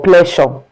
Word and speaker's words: pleasure: Pleasure. Not play or pleasure. So it's pleasure.